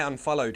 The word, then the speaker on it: unfollowed: I unfollowed him. You know, followed was with the D sound, so even unfollow will be the same pronunciation.